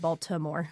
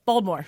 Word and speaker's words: Baltimore: I'm not allowed to call it Baltimore. But how do you say it? Baltimore? Baltimore. There's no T. Baltimore.